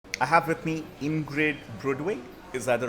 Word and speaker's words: Brudvig: I have with me Ingrid Brudvig. Is that the right pronunciation? Yes, Brudvig.